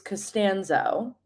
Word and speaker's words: Castanzo: My last name is Castanzo. So, if if you've seen Seinfeld, it's kind of like George Cassanzo, of course, but we spell it differently.